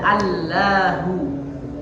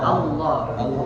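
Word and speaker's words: الله: Tidak dibaca Allahu, tapi dibaca ya. Allah. Nah, cara pengucapan yang betul itu hanya pergerakan lidah saja. Allah. Jadi bibirnya diam. Allah. Jadi yang bergerak itu lidahnya saja.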